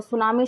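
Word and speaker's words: tsunami: तो सुनामी शब्द हमारे जापानी शब्द से लिया गया है। जापानी। शब्द को सुनामी इस तरीके से, टी इसके आगे जो होता है वो साइलेंट होता है।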